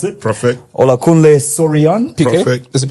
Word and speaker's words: Olakunle: His name is, correct me if I'm wrong, Olakunle. That's how you pronounce it. Perfect. Olakunle Soriyan.